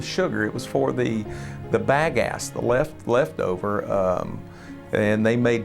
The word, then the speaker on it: bagasse: That biomass that is left over is called bagasse. Now, if you want to be a local, it's pronounced bagasse.